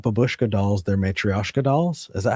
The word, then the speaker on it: matryoshka: on said, Eric, they're not babushka dolls, they're matryoshka dolls. Is that how you pronounce matryoshka.